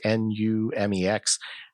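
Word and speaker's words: Numix: Numex, I guess that's how you pronounce it. I think it's Numex, is a very popular icon set and button set on any style of Linux.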